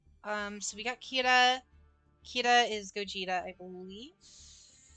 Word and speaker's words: Kira: That's exactly where I got my pronunciation from. It's Kira.